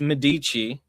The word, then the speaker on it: Medici: And here it's pronounced Medici after the Medici dynasty of the Renaissance that basically invented modern banking.